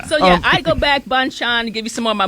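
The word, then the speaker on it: Bonchon: o n c h n how are we pronouncing this Rob bonan Bon bonan so yeah I go back Bon Chan give you some more my money for the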